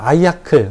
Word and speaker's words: IACLE: 자, 아이아클. 우리가 그냥 읽을 때, 뭐 외국인들도 그냥 그렇게 읽어요. 아이아클이라고 읽고요.